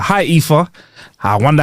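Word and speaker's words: Aoife: is the one a o i f e EA come on I know an EA I had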